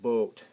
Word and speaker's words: Boot: can think of this some people think this is a boot but a boot Isel in German that's boat it's pronounced boat or do this word